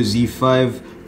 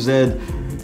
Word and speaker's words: Z: on a Sony Xperia Z5 Compact and it should also work on a regular Z5 as well Z5 depending on how you pronounce it I pronounce it Z sometimes Zed don't get at me anyways